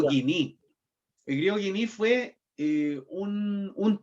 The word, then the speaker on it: koiné: es el griego koiné, que se escribe koiné. Se dice griego guiní.